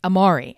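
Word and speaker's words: Amaury: spell it a-m-a-u-r-y so his first name looks like amari and i believe that's how they refer to him on the show they call him amari and his last name is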